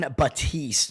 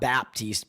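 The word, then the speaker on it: Batiste: performers name wrong U John batist not Baptist batist and when I said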